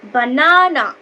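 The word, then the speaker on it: banana: বলা হয় stressed syllable যেমন ধরো আমরা বলতে পারি উদাহরণ দিয়ে বানানা সেক্ষেত্রে আমরা কি বলবো বানানা বানানা এখানে দেখো বি এর থেকে এন এ টাকে একটু জোরে উচ্চারণ করা হচ্ছে তাহলে এই প্রথম বি এ টা হলো আনস্ট্রেস সিলেবেল তারপরে এন এ টা হলো স্ট্রেস সিলেবেল আরেকটা যদি উদাহরণ আমরা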